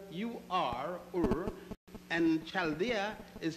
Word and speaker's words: Chaldea: It is spelled U-R, Ur, and Chaldea is spelled C-H-A-L-D-E-A.